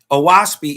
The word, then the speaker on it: Oahspe: Oaspi is pronounced O as in o'lock.